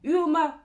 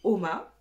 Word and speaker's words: UOMA: UOMA, prononcé OMA. Moi, je dirais toujours UOMA.